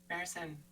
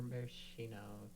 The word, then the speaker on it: maraschino: Marison. I thought they were maraschino. Maraschino? Oh, Is that not how you pronounce it?